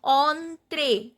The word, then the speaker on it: entre: Then entre. Here the accent is on e. Entre. And en is nasal sound.